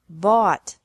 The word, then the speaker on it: bought: This can be spelled O-U-G-H-T or A-U-G-H-T, but the pronunciation is the same. Bring, brought, brought. Buy, bought, bought.